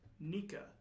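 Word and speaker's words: ニカ: the grin sound effect the sound effect is pronounced nica in japanese granny granny boy end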